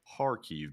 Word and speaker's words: Kharkiv: Just one quick note, the accent falls on A. It's Kharkiv, basically.